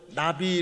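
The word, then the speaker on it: נביא: 호세아 예언자 였다는 것입니다 예언자 는 히브리어로 나비 라는 발음을 하게 됩니다 우리나라 바른 그럴 일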